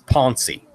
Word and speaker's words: poncey: it's spelled the same way that Americans printed pronounced pansy it's poncey so she went running for it and I